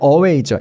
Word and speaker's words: away: 저 멀리라고 말할 때 away죠. A-W-A-Y, away. 보세요. away. 강세가 어디냐면 뒤에 있어요. way에 있어요. way. 어에는 강세가 없어요. 강세가 없다는 거 얘 그냥 편하게 발음해도 되는 거거든요. 그래서 그냥 away 이렇게 됩니다.